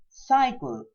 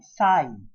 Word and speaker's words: cycle: Cycle. Here the letter Y is pronounced as I, sigh, I.